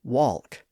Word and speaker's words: walk: So we don't say talk and walk. We simply say talk and walk. The vowel sound has become more of a sound or an a sound depending on your accent. But the L sound after it has disappeared.